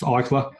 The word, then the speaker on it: Eichler: But I know it's with an E-I and it's pronounced Eichler.